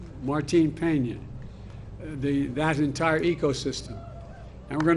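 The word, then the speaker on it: Martín Peña: canal to restore Cano, help me with the pronunciation. Martin Peña, that entire ecosystem.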